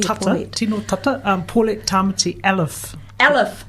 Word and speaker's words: Elliffe: But yeah, here in Aotearoa, Te Waipounamu, the family, there's not many Elliffes, but that's how they pronounce it.